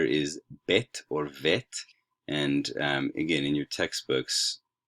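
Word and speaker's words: ב: the bet and then without that it's vet okay so alif bet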